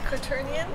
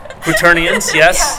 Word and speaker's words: quaternion: Oh yeah!] [She said 'quarter-ions'] Quaternions, yes. No hate. You know what, if you've never heard it before, you're not gonna know how it's pronounced. So that's fine. Quaternions, or "quater-nions", as Kat calls them, are integral to